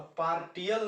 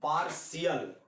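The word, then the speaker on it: partial: जैसे हम लोग लिखते हैं पार्शियल, PARTIL, तो यहाँ ट आया, टी आया, तो पार्टियल नहीं बोलते हैं, इसका सही प्रोनाउंसिएशन पार्शियल।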